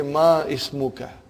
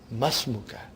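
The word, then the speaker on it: ما اسمكَ: ready masmukha remember hamlet it will be incorrect to say ma ismukha you should say masmuka comes in the beginning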